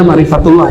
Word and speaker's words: ma'rifatullah: Ma'rifatullah atau ma'rifat Allah, bacanya ma'rifatullah ya.